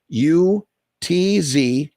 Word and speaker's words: chutzpah: This is just educating. It's CHUTZPAH.